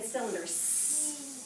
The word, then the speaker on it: cylinder: Okay, what was the first sound, or first sound in cylinder? But it's a soft C.